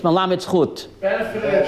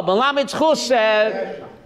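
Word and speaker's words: מלמד זכות: If you can't be melamed zchus on Am Yisrael, how do you say it in English? Melamed zchut. No, melamed zchus, find merit for Am Yisrael, then you have to retire.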